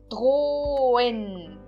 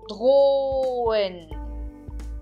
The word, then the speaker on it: drohen: Então, eu não pronuncio o H. O H serve apenas para separar a vogal O da E, ok? Então, eu não pronuncio o H. Eu falo drohen.